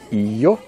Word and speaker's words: io: Ils sont io. Prononcez pas yo, hein. Yo. Non. Io.